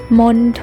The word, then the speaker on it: มณโฑ: 1 รอบ นะ คะ คำ ที่ มี ตัว ทองมณโฑ เนี่ย จะ ออก เสียง ได้ 2 แบบ นะ คะ คือ 1 ออก เสียง เหมือน มี เด็ก นะ คะ เช่น คำ ว่า บัณฑิต มณฑป บัณเฑาะว์ และ บัณฑุ ค่ะ ส่วน แบบ ที่ 2 ออก เสียง เหมือน ท. ทหาร ได้ แก่ คำ ว่า มณโฑ และ มณฑล มณฑา กุล ฑี ทัณฑสถาน และ จัณฑาล ค่ะ เจ้า ไป แล้ว นะ